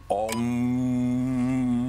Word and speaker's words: Om: The word Om consists of 3 syllables: the A sound, the O, the U sound, O, and the M sound, That sound represents the